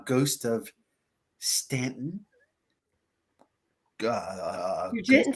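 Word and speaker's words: Staunton: uh ghost walks and Stanton Virginia for some of you it is spelled ston but if you are not from Virginia you will understand that if you are from Virginia in the area please pronunciated it correctly thank you this person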